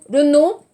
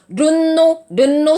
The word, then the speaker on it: Renault: Renault, attention, 발음. Renault, Samsung, non. Renault.